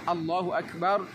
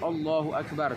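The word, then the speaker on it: الله أكبر: Ketika kita mengucapkan Allahu Akbar, jangan diucapkan dengan huruf O, Allahu Akbar, tapi Allahu Akbar.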